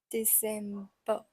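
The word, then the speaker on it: Dezember: the same spelling and finally we have December so z d e z e m b e r soed has a little bit s sound in it so it's pronounced as December like this December okay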